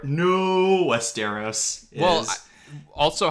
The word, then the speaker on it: Westeros: scene because it really shows how messed up westero no westeros well also how do you pronounce how do you pronounce marjorie tyrell's name